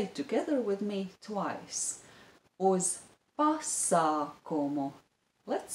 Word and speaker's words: pasākumu: The stress is on the syllable bi, biļetes, and on the syllable pa, pasākumu.